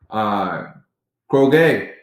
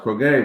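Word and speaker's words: κραυγή: The word being used in Revelations here is the Greek word kroge, I believe is how that's pronounced, kroge, which is outcry.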